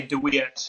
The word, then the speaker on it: de Wiart: Yes, I tend to pronounce it de Wiart. Some people say de Wiart, and I think de Wiart sounds a bit better, but so it's multiple pronunciations.